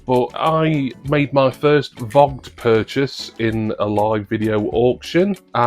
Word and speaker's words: Voggt: the UK is and I'm reliably informed that it's pronounced vogged I don't really know